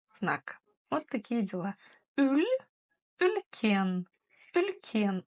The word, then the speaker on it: үлкен: «Ülь», «ülken», «ülken», ударение на «е». Часто в Казахстане вы можете услышать не «ülken», а «ülkün».